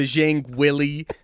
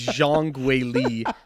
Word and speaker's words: Zhang Weili: 2018 so so please forgive him for these some of these pronunciations the uh the Cody sandhagen the um the Zhang Willy um it is Jean gwali and I believe you